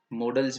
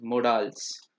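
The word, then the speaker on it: modals: देखो, इसको कोई कोई ऐसे प्रोनाउंस करते हैं, मोडाल्स, और मैं इसको प्रोनाउंस करता हूँ मॉडल्स या मॉडल वर्ब्स। ठीक, ये करेक्ट प्रोनाउंसिएशन है अकॉर्डिंग टू मी, और ये गलत है अकॉर्डिंग टू मी।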